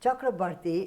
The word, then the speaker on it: Chakraborty: a punjabi name yes it's typical punjabi yes chakrabarti is a typical bengali am i pronouncing it right perfectly okay yes that's a